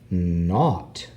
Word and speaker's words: knot: So word family word endings with ugh can be words like not. Not. That's with a silent K.